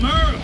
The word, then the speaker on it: Merle: I'm Merle, spelled like Hurl.